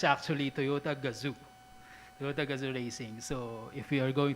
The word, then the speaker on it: Gazoo: tutorial this is i know this is commonly mispronounced as uh i call it toyota but i was told that it's actually toyota gazoo so if we are going to encounter that